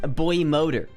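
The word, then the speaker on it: boymoder: mode in public yeah it's supposed to be pronounced Boy motor I don't care it's boy modder now that's why I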